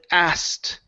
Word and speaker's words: asked: to uh the word asked okay right here um has been asked to arrest asked a okay so uh take out the K take out the k sound and move straight to the T so instead of saying